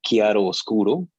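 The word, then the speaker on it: chiaroscuro: I was just saying that the pronunciation for that was chiaro oscuro.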